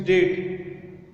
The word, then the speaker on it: debt: देखिए, डेट का स्पेलिंग यहाँ पे है DEET, the pronunciation is डेट।